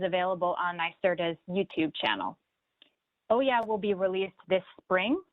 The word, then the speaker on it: OWYA: The program is called the Offshore Wind Youth Action Program, pronounced OYA for short.